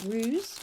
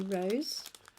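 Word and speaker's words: Roos: Rose from the Netherlands it's spelled r double o s so it looks like ruse but it is actually Rose and she's popped some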